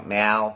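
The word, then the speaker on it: แมว: And for one of those with me is the tone between drunk and cat, or Mal and Mal. And I lots of times I still don't say it right. And I know which one is correct, you know, meow, like the sound meow, and mao for being drunk.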